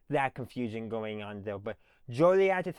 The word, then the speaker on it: Joliet: Jolad is how everyone pronounces it. So just remember that it's not Jolly, it's Jolie.